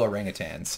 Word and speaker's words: orangutan: there they have male orangutan yes I said tan not tang because I believe in proper pronunciation yeah but look at